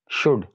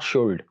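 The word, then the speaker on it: should: तो यहाँ पर एल is silent, it's शुड नॉट शुल्ड। इसी तरह वुड नॉट वुल्ड, कुड नॉट कोल्ड।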